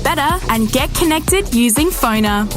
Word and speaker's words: Pfoner: Find people easier, market yourself better, and get connected using Phoner. That's spelled Pfoner. Phoner.